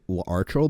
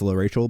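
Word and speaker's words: L'Arachel: also just like I I did also like pronounce uh Lor Rachel as archel but like if you read her name it actually is Lor Rachel but like I'm [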